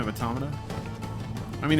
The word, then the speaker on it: Automata: There's a debate on Gwitch, please, between automata and automata. The emphasis is on the second syllable, automata.